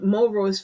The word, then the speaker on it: Mulroy: Historian Kevin Mulroy's Freedom on the Border traces these migrations from Florida to Indian Territory to Texas and then finally into Mexico.